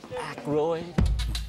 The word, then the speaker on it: Aykroyd: How the fuck do you pronounce this? Aykroyd.